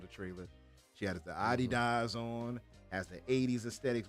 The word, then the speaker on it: Adidas: She has the Adidas on, has the 80s aesthetics, which I know all of us love.